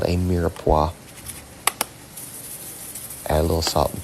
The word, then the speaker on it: mirepoix: There's a lot of silent letters and all these fancy cooking terms. There's an X in both mirepoix and roux, and I don't hear any X anywhere in it.